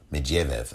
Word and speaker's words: Medvedev: And he took the prime minister role while Dmitry Medvedev took the role of Medvedev, I think is how you pronounce it.